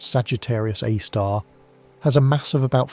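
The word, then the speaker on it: Sagittarius A*: The Milky Way's central black hole called Sagittarius A, pronounced Sagittarius A star, has a mass of about 4 million suns.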